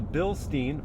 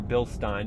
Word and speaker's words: Bilstein: So we're working with a Bilstein, or Bilstein, depending on how you pronounce it, monotube suspension.